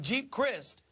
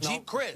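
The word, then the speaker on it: Geep Chryst: But Colin Kaepernick, the quarterback, has an offensive coordinator in Jeep Christ. I believe that's how you pronounce his name. Right. It's G-E-E-P, Yep. Jeep Christ.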